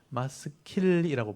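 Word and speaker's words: מַשְׂכִּיל: 그래서 마스길 또 보여드리면 마스킬이라고 발음하는데 한글로는 마스길이라고 되어 있습니다.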